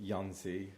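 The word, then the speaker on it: Jónsi: Jonzi. It's J O N S I. And they're Icelandic, right? Like Yonzi.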